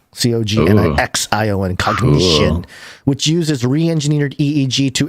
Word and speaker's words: Cognixion: I think it's cognition, but it's spelled with an X. COGNIXION, cognition, which uses re-engineered EEG